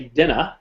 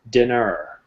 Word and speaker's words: dinner: your audience is europe quite often we'll say dinner the er sounds like an a in north america it's er dinner so if i was british i'd say dinner let's have some dinner but